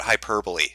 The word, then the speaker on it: hyperbole: People have gotten on my case about hyperbole.